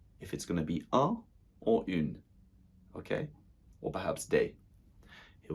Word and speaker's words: une: Une table.